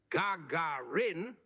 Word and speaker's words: Gagarin: this is the Garin oh my God sorry gagaran wait hang on Mark how do you pronounced gagaran ah a fine question indeed the pronunciation I'm told is Gagarin much like the the soft calls of a